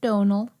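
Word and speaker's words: Domhnall: Donald.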